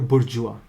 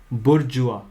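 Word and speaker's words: bourgeois: थी प्रोलिटेरिएट और बुर्जुआ ये वर्ड ध्यान से सुन लो बुर्जुआ ठीक है बुर्जुआ अब बोलने में थोड़ा सा अजीब सा लगता है कि या स्पेलिंग क्या दे रखी है ठीक है और बोल क्या रहे हैं तो ठीक है तो वर्ड तो ऐसा ही रहेगा तो वर्ड है बुर्जुआ बुर्जुआ बुर्जुआ फाइन तो बुर्जुआ बेसिकली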